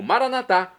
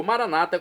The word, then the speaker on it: maranatá: E agora do dialeto de Jesus, eu clamo maranatá, como dizemos nós católicos, ou maranata, como dizem nossos irmãos das comunidades evangélicas ou protestantes. Não importa pronúncia, o significado é o mesmo.